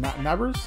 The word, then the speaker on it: Nabers: really that great another wide receiver Malik what nabers that's how you say his name oh this